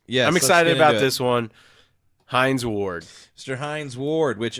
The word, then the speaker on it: Hines: excited about this one Hines Ward Mr Hines Ward which every time I hear his name makes me think of catchup even though it's spelled completely different it is yeah you